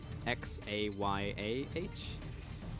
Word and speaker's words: Xayah: Well, you don't pronounce the A, right? Like it's X-A-Y-A-H? Xayah.